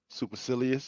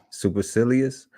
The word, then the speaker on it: supercilious: presumptuous what's how y'all pronounce that how we pronounce that what's that super culous supercilious yeah supercilious uh impetuous bumpous aggressive egotistic impudent assertive high